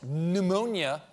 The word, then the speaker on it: pneumonia: And may I remind you, that's pneumonia with a silent P. Why is that P even there, and who silenced it?